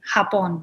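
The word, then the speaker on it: Japón: yes well you do except for j's are not the way we would say a j because we have a different sound exactly japan would be hapon so yeah like an x i don't know yeah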